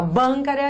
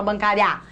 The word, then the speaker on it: bancária: proparoxítona se fala em qual é a sílaba forte a gente fala bancara a gente fala bancária ou a gente fala bancária a gente fala bancária Vou agência bancária é uma paroxítona que terminou em ditongo crescente leva acento e agora